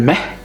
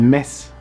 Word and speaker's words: mes: Empezamos por el mes (acento canario) El "mehh"? No, el mes (pronunciando la "s") Ahh Muy antiguamente el mes de diciembre en Alemania se llamaba el "Julmond": La luna de "Jul".